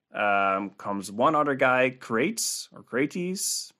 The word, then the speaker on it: Crates: we do anyways but what i was told is to pronounce every letter so probably his name is pronounced crates okay well krates um was followed by